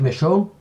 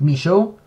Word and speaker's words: Michaud: I know because it's close, it's pretty much a French family name that you can pronounce it Michaud, but at the same time the English producers all call him Michaud, so I'm stuck between one of the two. I think I'm gonna go with Michaud because that's how everyone